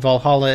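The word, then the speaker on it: VA-11 Hall-A: On a kind of similar note, I'm doing a shout out to a visual novel video game called Valhalla. It's spelled V-A-1-1-Hall-A.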